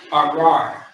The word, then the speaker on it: arar: Now, the word is arar. Okay? The word is arar. Arar. You got the which is by itself, and then you got the ra, and then it's connected to a ra again. Remember, earlier in the class,